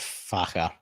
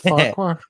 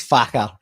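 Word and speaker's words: Farquhar: woods and uh he'll he would pronounce it farer so I'll correct that not farquar there's no farquar in the northeast of Scotland is Faker uh and uh and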